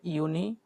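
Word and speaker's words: Juni: তারপর যেটা ইউনি, যেটা ইউনি সেটা হচ্ছে কি জুন, ইংলিশে জুন বলি, সেটাকে ওরা বলে ইউনি।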